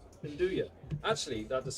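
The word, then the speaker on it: 'nduja: Okay, so Dan in the chat has given us the correct pronunciation for Nuja. It's Nduja. Nduja.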